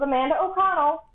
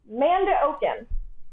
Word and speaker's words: Amanda O'Connell: Hey guys, this is Amanda O'Connell. You might know me as Manda O'Con, as you seem to pronounce it, Manda Oken.